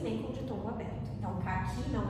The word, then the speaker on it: caqui: Então, por que, por exemplo, a palavra caqui, vamos fazer aqui uma observação. Caqui, a sílaba tônica de caqui é qui.